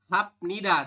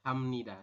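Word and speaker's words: 합니다: ya tulisannya seperti ini ya hapnida tulisannya Anda membacanya adalah Hamnida seperti ini Oke terima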